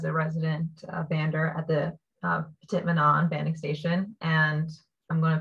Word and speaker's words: Petit-Manan: I learned as Petit-Manan. However, I was told I do not say it like a local, and locals apparently say Petit-Manan.